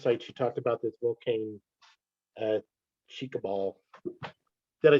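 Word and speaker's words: Volcán Chicabal: Any other questions out there on the Horned Guan and this first site you talked about, this Volcan Chicabal?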